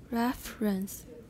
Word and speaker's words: reference: with reference to with reference to how many syllables reference two with reference to this one reference is not wrong but we usually say it with two with reference to with